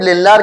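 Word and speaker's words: Lindlar: लिंडलार catalyst. क्या बोलते हैं? वैसे ये डी साइलेंट रहता है। लिंडलार catalyst.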